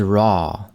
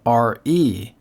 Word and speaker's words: Ra: All right, the first one is Ra, also spelled R-E and pronounced Re. So I don't know which is the proper pronunciation. I'll try to stick with Ra, but I may lapse into Re from time to time.